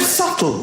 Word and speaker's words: subtle: The word subtle, would anybody object if it was spelt S-U-T-L-E? Not a single person would. But there's a B in the middle going, shh, just ignore me.